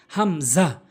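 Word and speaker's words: ء: হামজা, হামজা, হলকের শুরু থেকে, হলকের শুরু থেকে হামজা।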